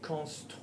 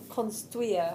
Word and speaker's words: construire: To construct, construire. Say toi, say tweezers. Say tweezers. Tweezers. Construire. Construire. That's it.